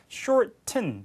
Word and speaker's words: shorten: shorten. 자, 북미영어에서 t 다음에 n이 나오면 이렇게 튼 하지 않고 이렇게 약간 닿은 소리처럼 shorten 이렇게 발음할 수 있죠.